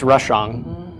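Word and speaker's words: רשע: Yeah, no, it's Rashang. Yeah, I'm pronouncing the ang of the ayin.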